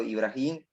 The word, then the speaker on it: Ibrahím: que les haya gustado este hermoso testimonio llamado ibrahim así se pronuncia verdad si amado el brain y amado